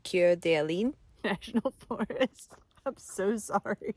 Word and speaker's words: Coeur d'Alene: The French pronunciation is Coeur d'Alene.